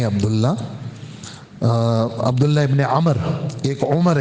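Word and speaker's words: عمرو: नहीं जाता ऐसे ही अमर का लफ्ज के अंदर यह वाव साइलेंट है इसको पढ़ा नहीं जाता लेकिन वाव की वजह से न पर जबर और मीम पर सुकून पढ़ते हैं हजरत आमर अब्दुल्लाह इबन आमर नहीं यानी मीम पर जबर भी नहीं पढ़ेंगे और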